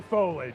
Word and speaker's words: foliage: Is it foliage or foliage? It's foliage. Foliage. It's three syllables.